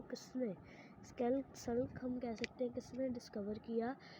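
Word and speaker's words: Hooke: तो उसका आंसर है Robert हुके। The term cell was coined by Robert हुक। ठीक है, इसको हुके नहीं कहना है, रॉबर्ट हुक कहना है। ठीक है, हुक, ई साइलेंट है यहाँ पर।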